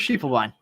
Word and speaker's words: Schiefelbein: Schiefelbein does sound German, and if it's German, you pronounce the I, not the E, so we'll stick with Schiefelbein.